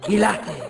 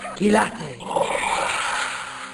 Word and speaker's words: Kilate: Gilate, pronounced Ki-La-Te. Have a listen. Gilate. Gilate. Gilate.